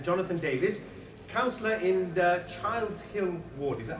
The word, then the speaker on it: Childs Hill: Councillor in the Childs Hill Ward, is that how you pronounce it?